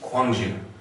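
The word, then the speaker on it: Gwangju: more about that, um there will be times when it is more of a soft K sound and a hard G. Okay. Uh this doesn't make a lot of sense right now. Um but it will down the road and every time we see it uh I'll sort of mention it. Um one example of this is the city Kangju. Okay, which used to be spelled with a K.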